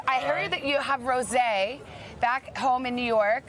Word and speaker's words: Rosé: Rosé. It's like Jose.